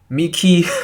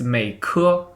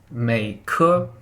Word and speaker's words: Meike: Actually, it's Meike. Meike. It's like you pronounce the ending vowel. Wait, how do you say it? Yeah, it's like make, but you make it a k super long, like make.